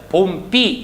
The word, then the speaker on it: 봄비: 봄비라고 원래 발음을 해야 되는데 이것이 합쳐지게 되면 봄비 이렇게 발음이 된다는 겁니다.